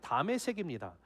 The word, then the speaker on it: 다메섹: 여러분, 이 다메섹이라는 것은 시리아의 수도 다마스쿠스죠. 거기에 히브리식인 발음이 다메섹입니다.